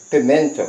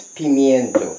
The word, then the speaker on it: pimiento: Because Jamaicans, we consider it as pimento, but it's pimiento.